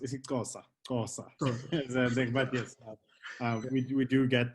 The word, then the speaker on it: isiXhosa: Oh yes, and again in the language it will be pronounced isiXhosa, Xhosa.